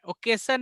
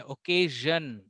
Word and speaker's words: occasion: ओकेसन में चलना नहीं है, ओकेजन, ओकेजन.